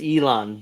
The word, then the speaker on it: Elon: I'm gonna say it Ian MOS made a video yeah she screwed up she butchered his name what Ian MOS Ian mosque it's Elon but okay made a video